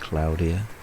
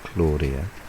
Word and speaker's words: Claudia: And the Met Office insists that it's pronounced Claudia and not Claudia because it's the name given to her by their colleagues in the Spanish Met Office.